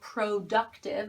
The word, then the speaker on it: productive: Pay attention to the pronunciation of it. Again, this is a schwa sound. It's not productive, it's pr. This O is a.